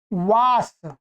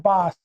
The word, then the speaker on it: वास: जैसे एक शब्द मैं आपको बताता हूं, वास। क्या है? वास। मैं तो सही बोल रहा हूं। ये वास शब्द है, परंतु इसका उच्चारण ऐसा करते हैं बास।